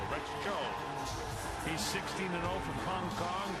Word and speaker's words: Rex Tso: Rex Cho, spelled T-S-O, pronounced C-H-O. Rex Cho.